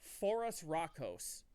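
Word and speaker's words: Phorusrhacos: South America that is cardivas um you would pronounce this as Forest rockos but you could also just but um since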